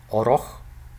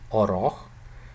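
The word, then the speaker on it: орох: The first one is oroch, oroch. Okay, it's pronounced slowly as oroch, which means to enter, but in fast speech, in normal speed speech, actually, this is pronounced as orch, orch.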